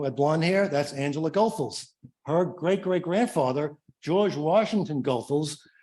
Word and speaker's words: Goethals: This is the old Goethals Bridge, and mind you, that is the correct pronunciation. It is Goethals.